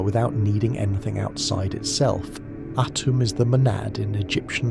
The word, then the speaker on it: Atum: Atum is pronounced autumn with the emphasis on the first syllable and a hard T.